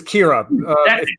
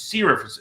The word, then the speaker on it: Kira: Because her name is Kira. I always think of it as Sierra because of how it's spelled. Kira.